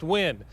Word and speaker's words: Nguyen: Nguyen is a common Vietnamese name, spelled Nguyen, but it's pronounced Nguyen.